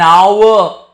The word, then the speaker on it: hour: Same way here I'll use N because my H is silent. An hour, an honest man.